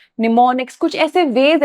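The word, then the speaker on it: mnemonics: यहां पे ये जो एम है ना ये साइलेंट होता है। तो कंफ्यूज मत हो। इट इज़ निमोनिक्स।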